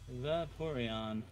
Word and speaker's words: Vaporeon: So, the previous one was Vaporeon? Vaporeon. Oh, it's an O. I read that as an E for some reason.